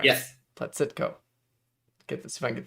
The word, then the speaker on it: Blazytko: and before before you leave how do you pronounce your last name it's bloodsucker blacitco all right yes platcitco get this if i get the syllables right